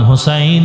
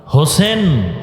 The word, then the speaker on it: হোসাইন: রসূলের কলিজার টুকরা ইমাম হোসাইন রাদিয়াল্লাহু তাআলা আনহু হোসেন না হোসাইন আমাদের দুঃখ দুঃখ যে অনেক মানুষ নামটাও সুন্দর করে উচ্চারণ করে না।